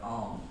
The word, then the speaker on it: Om: So if you've been with me in recent weeks, I've been emphasizing this concept of the 3-syllable sound of Om. So you might spell it out A-U-M as opposed to O-M.